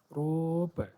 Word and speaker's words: rope: E is silent here, and before the E, O is vowel, and it will be speak as rope.